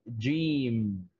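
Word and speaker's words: جيم: the first letter is jim yeah right gene okay so we would pronounce that like j e e m okay so just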